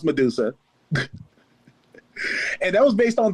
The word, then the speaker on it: MDSA: Her name is spelled MDSA, but it's still pronounced Medusa.